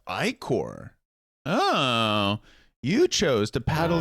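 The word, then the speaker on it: ichor: Is that how you pronounce that? Icor. I probably. It's I core.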